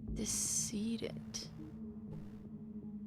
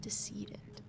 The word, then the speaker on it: decedent: How do you pronounce that? Decedent. Like deceased? Decedent.